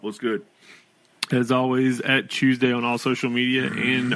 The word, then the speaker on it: CHWSDY: that asks on YouTube how to pronounce the podcast it is Tuesday because I don't know